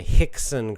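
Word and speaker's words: Rickson: you don't understand that R is pronounced like an H in English and Gracie is the name is the writer of the book which is it's generally a good book Breathe by Hicks and Gracie you know if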